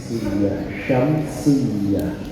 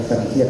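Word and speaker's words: شمسية: syamsiyah bukan samsiyah. Kalau samsiyah namanya biru. Syamsiyah ya-nya tasydid. As-salihat sa Mat tabi'i.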